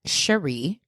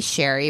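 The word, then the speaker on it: Sharee: this week is on Sheree Miller I'm going to say her name Sheree it might be Sherry but it's spelled s h a r e e I'm going to say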